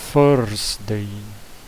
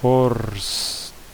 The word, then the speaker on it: Thursday: Então vai ser Thursday. É como se fosse um F aqui, como se fosse Thursday. Bem assim mesmo, Thursday, tá? Se pronuncia esse TH como se fosse um F.